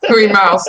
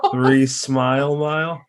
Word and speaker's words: Three-Smile Mile: possible that you're wrong three miles now too you've all been saying it wrong three smile it's three smile oh